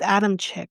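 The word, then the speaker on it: Adamcik: was born March 21st, 1990, and Tori Michael Adams sick. Who cares how you say his name? I don't care. Okay, it's Adam Chick, but who cares?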